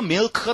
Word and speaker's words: milk: 이 k 발음 할 때도 L 발음에서 띄질 마. Milk. 어떻게 하는지 아시겠어요? L 발음하고 나서 저쪽 안쪽에 입쪽 저 안쪽에 가서 그걸 툭 내리는 거예요. Right? Milk. 그래서 이걸 갖다가 까딱 잘못 들으면 미역이라고 들리고요. 차라리 그래서 여러분이 미역이라고 발음하는 게 밀크보다는 나아요.